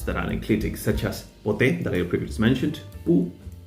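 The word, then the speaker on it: ποτέ: However, if the enclitic has two syllables, like the word pote, then it will appear in the dictionary as an oxytone. That means as having an acute accent on the last syllable.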